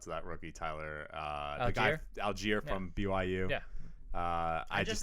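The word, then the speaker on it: Allgeier: Algier.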